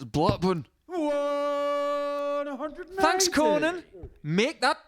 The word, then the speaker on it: Blackburn: Because we say it somewhat phonetically. They don't have an R in it. It's Blackburn.